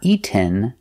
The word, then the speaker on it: eaten: So, in present eat, in past ate, the participle is eaten. Pronunciation, not eaten, but eaten. You go to a stop T, eat, and you fall to the N.